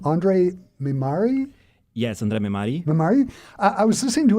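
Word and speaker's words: André Mehmari: I do want to quickly ask about help me with the pronunciation of the name, Andre Mimari? Yes, Andre Mimari.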